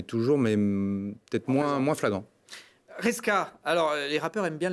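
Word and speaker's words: Resca: Tout de suite, c'est Reska. Ah, Reska, ah oui. Depuis le début. Caresse, ça marche moins bien. C'est R-E-S-C-A, voilà.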